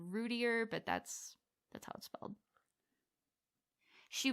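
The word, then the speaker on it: Routier: about but yeah darlie rudier I think is how you say her last name I've I've heard it pronounced two different ways it's router and rootier but that's that's well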